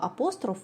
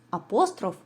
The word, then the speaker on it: апостроф: тому станом на сьогодні нормативними є обидва варіанти вимови апостроф і апостроф але останні тенденції розвитку сучасної української мови свідчать про більшу схильність мовознавців до варіанту наголошування слова апостроф на першому його складі тому я пропоную користуватися саме цим варіантом вимови так що ж таке